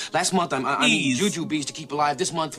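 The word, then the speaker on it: Jujubes: They pronounce it jujubs. It's juju bees. I've always heard of Juju Bees.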